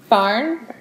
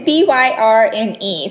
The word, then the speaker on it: Byrne: Diet Mentality by Christine Barn. Is that what we... Or Burn. It's Byrne.